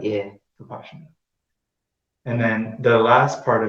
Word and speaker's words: Vipassana: He calls it Vipassana. So that's like I guess it's the Indian or Burmese permutation of pronunciation of it. Yeah. Vipassana.